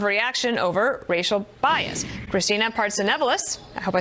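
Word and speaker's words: Partsinevelos: Christina Partsenevelis, I hope I said that right, is outside of a Starbucks in New York City.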